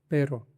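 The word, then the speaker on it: pero: Okay, दूसरा method है, कोई भी वर्ड लीजिए, जैसे कि पेरो, र के आगे बे डालना, और अब इसको प्रोनाउंस कीजिए। पेब्रो, पेब्रो, पेब्रो। ओके, इसको आप 5-6 बार इसको प्रोनाउंस कीजिए, और उसके बाद में ना इसको निकालिए बे को, और प्रोनाउंस कीजिए, जैसे कि पेब्रो, पेब्रो, पेब्रो। पेरो। तो ऐसे आपको इसको साउंड आ जाएगा।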